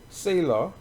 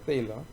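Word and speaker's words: Thaler: 이게 세도 아니고 때도 아니고 이게 사실은 때입니다.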